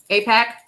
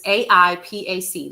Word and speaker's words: AIPAC: APAC, you want to talk about that? Sure, let's talk about it. Let's talk about APAC really quick, Carol Sue. So, it's AIPAC.